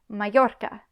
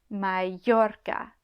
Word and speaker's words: Mallorca: Double L. This can also make the y or y sound like it does in Spanish. Again, not that common. Mallorca, Mallorca.